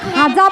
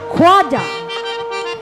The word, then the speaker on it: খোয়াজা: এই যে আমরা খাজা বলে যে ডাকি, ইহার প্রকৃত উচ্চারণ হইল খোয়াজা।